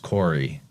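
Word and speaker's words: Kore: Krista in the chat says core with the K is pronounced Corey, which is good to know.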